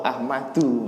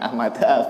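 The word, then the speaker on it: أحمدُ: Rawahu Ahmadu bacanya, bukan Ahmada, bukan Ahmadi ya.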